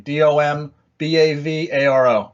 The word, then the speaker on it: Dom Bavaro: It's just Dom Bavaro on everything. DOMBAVARO. Same as what you see it if you're watching on Facebook. Spelled the same way as my Facebook name. It's spelled exactly how it sounds.